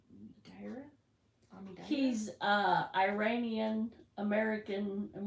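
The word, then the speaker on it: Omidyar: Omidira? I Omidira? No, it's not dear. It's Dira?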